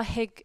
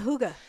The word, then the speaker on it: hygge: I'm not a Hygge. Hygge? How you say it? What are you trying to say? It's like cougar, but hygge, isn't it?